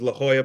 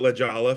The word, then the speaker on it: La Jolla: It was La Jolla Playhouse. Boy, okay. Yeah. I called it La Jolla for about 15 years before somebody corrected me that I was saying it wrong.